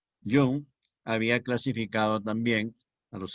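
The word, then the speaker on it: Jung: con carl gustav yo aunque se escribe con jota hong terminado en g suizo young había clasificado también a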